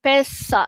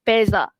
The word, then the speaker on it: pesa: Bukan pesa. Oke. Kenapa bukan pesa? Sebab s di antara dua vokal. So dia peza. Okey. Peza bunyi the.